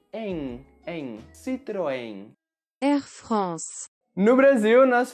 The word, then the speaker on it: Citroën: Citroën. No Brasil, nós falamos Citroën, Citroën. E palavras que terminam com as letras N ou M em português vão ter esse som nasal. Em, Citroën.